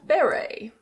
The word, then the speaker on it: beret: Here we have a beret. Beret. Yes, the T is silent. This is a French word.